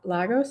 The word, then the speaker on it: Lagos: Lagos, am I pronouncing that right?